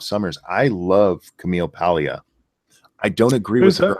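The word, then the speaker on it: Paglia: Summers I love Camille Pia I don't agree with her on everything she's oh she's F that cam who Camille who Camille Pia it's PG l i a but the g is silent she's she's kind of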